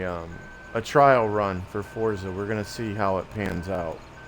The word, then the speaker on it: Forza: I know, Fortza. I know. I wish they would have spelled it that way. You You are correct, Death. That's why I said it like that. It is It is pronounced Forza.